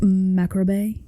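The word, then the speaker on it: Mari Lwyd: rises from the dead it's pronounced macro this maob skeleton May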